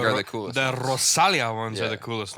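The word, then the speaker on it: Rosalía: that's not where the emphasis is. though. Rosalia. Yeah, there you go. That's fine. Where's she from? Cuban? No, Colombia? Colombia, I think. Yeah. Oh man. Yeah, it's Rosalia. No, it's, Rosalia. but so many of them are sick. You know it's Rosalia, or are you Dude. just saying that? It is. That's where the emphasis is on the I.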